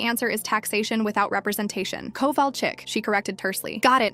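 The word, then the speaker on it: Kowalczyk: "Covall chick," she corrected tursly.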